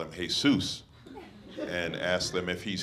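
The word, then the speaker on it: Jesús: I'm let you understand that's a Spanish name it's hey Seuss it's pronounced how it's pronounced it's not Jesus Helen speak Spanish really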